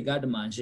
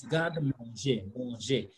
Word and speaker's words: garde manger: I normally hear people say garde manger. It is wrong. It is garde manger.